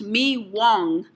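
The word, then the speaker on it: mì Quảng: famous vietnamese baguette meek wong pronounced me wong is the classic dish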